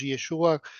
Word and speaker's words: Yeshua: nombre propio real de Jesús, que era Jesús Yeshua, como se pronuncia allá.